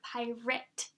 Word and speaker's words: pirate: I and a T sound pirate you don't hear PI R 8 or PI R at we hear pirate okay so SWA sound because it's a short I even though it has the letter A in it another example is the